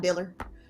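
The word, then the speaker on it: Dilly: about our our um foxadillo pet diller d-i-l-l-y dealer so super excited to be back it's a unique pronunciation but oh speaking of unique pronunciations evan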